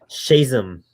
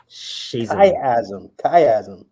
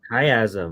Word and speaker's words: Chiasm: Whoa, you got to harden up that CH, man. I do. I'm so sorry. I'm like trying to focus. Shazam. Chiasm. Chiasm.